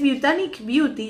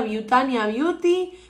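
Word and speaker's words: Botanic Beauty: He estado pronunciando mal esta marca desde que la conocí. Es Butanic Beauty. Yo pensé que era Butania Beauty, Butanio Beauty. Pobres.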